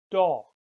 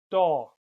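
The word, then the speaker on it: Daag: spelled a a and this makes the sound all a bit like the English word vault all a good example is the Dutch word doll doll that means day all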